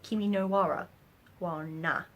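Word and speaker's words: 君の名は: So, Your Name, or Kimi no wa na. Kimi no wa na. That's how you say it.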